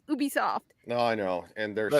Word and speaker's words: Ubisoft: I don't get it because it should be pronounced Ubisoft um I mean it's not a huge deal